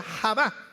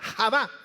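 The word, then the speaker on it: חוה: confirmar el nombre eba en el original hebreo se pronuncia java con jota haba y este nombre significa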